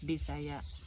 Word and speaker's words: Bisaya: bisaya it's how the it's how it is pronounced bisaya she's messiah and when we got there we